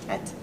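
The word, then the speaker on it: Htet: And it's not, you don't say the H, it's Tet is his name.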